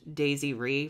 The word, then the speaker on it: Desiree: Like, I think it's spelled like Desiree, but it's pronounced Daisy Ree for some reason.